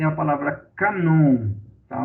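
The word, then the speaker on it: κανών: No grego, cânon é a palavra canon. Tá? O cânon, na verdade, é a palavra canon no grego. A pronúncia no grego é canon, que significa vara, que significa uma régua de medir.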